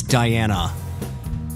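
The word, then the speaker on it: Dianna: It's Diana. But it's got 2 N's. It doesn't matter. It's pronounced the same way.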